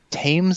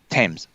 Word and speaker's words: Thames: haven't there is a tames i think is a that british production company comes thames thames thames they called it they don't pronounce the they don't pronounce the h and they i got